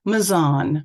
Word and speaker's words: Mazon: However, the local pronunciation is counterintuitive, as the vast majority of two-syllable English place names are pronounced with the word stress on the first syllable. For example, Yorkshire, Brighton, Oxford. Following this convention, Mazon would be pronounced Mazon,